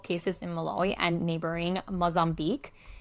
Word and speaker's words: Mozambique: in Malawi and neighboring Mozambique. I'm saying that right. Mozambique. Yeah, I would say it like that.